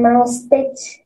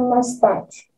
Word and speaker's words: mustache: Bukan mustache ya, biasanya mayoritas masih banyak yang apa itu pronounce-kan ya, mengucapkan dengan kata mustache, padahal salah ya. Yang benar adalah he has a mustache ya, mustache. Oke.